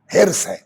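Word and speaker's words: حرص: ہرس کا صحیح تلفظ ہرس ہے. ہم لوگوں کے دیہاتوں میں جائیے تو ہرس ہے، لکھنؤ میں جائیے تو ہرس ہے. لکھنؤ کی زبان ہرس.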